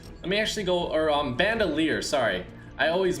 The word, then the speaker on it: bandolier: your time so we're going to do the band oiler actually let me actually go or bandolier sorry i always mispronounced that so bandolier here bandelier here okay